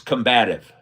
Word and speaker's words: combative: Clyde Mack says it's combative. So I was adding a syllable.